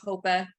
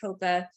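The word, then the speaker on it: HOEPA: then the high cost is under um people pronounce it differently but hopa h-o-e-p-a um so the high price is 1.5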